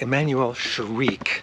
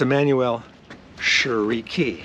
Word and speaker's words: Emmanuelle Chriqui: or spell I mean I always thought it was like Emanuel shariq no but it's it's Emanuel sherei that's right if everyone could say